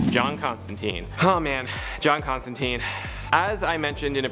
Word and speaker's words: Constantine: As I mentioned in a previous video, I know in the original source material it's pronounced Constantine, but in all of his live action appearances and animated appearances, he's referred to as Constantine, and honestly that's just kind of the preferred pronunciation nowadays.